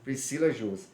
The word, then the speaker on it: Priscila Jursa: A pronúncia está certa? Está certa. Priscila Jursa.